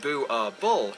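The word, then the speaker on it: Boerboel: are illegal in Norway boule ball pronounced boo our ball is enlarged in Afrikaans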